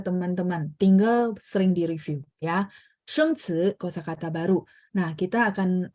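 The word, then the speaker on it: 生词: Jadi sheng ci ya, ci dalam bahasa Mandarin itu bacanya ci ya, bunyinya ya, tapi karena ini ada 2 ya.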